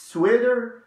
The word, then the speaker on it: sweater: هنا على فكرة الكلمة هنا sweater اللي هو احنا بنطقها دال شوية امريكي، اللي هو اللي انت شايفه اللي لابساه ده.